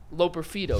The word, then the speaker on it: Loperfido: Joey Loperfido is how you pronounce his name.